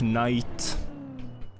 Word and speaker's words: knight: It's like knife, knight. It's not an English sound, that's why the K is silent.